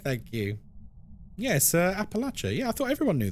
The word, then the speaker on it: Appalachia: Appalachia? Is that not right? It's Appalachia and the Appalachian Mountains. That's how everyone says it.